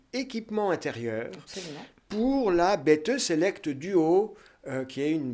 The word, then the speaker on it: Bette: Je l'ai bien prononcé, on dit Betheux. Ah bah ouais, l'allemande, c'est bêteux.